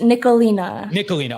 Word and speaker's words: Nicholena: I want to make sure I don't pronounce your name wrong. It's Nicholena.